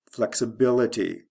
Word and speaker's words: flexibility: Flexible, flexibility. First syllable to third syllable.